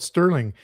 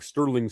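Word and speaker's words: Stirling: Sterling Bruce is spelt like sterling silver. Sterling SM for Stephen Michael, the alternate history master, is spelt like stir crazy. But he'd probably say more like stirring your tea.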